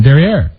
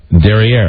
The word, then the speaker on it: derrière: I think that's even the French pronunciation, derrière. Derriere.